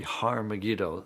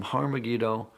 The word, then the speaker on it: Har Megiddo: written in greek armageddon has an aspirant at the beginning meaning it's pronounced with an h so it originally was